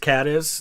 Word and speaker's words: Cadiz: he was born in caddis spain or is it cadiz i don't know the one in ohio is pronounced cat is that's why i say